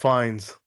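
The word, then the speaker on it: Fiennes: movie stars Ralph Fen how do you say his last name fien fenis um Ralph fines that's how you say it ra f i I never how to pronounce it yeah so ra fines um for those that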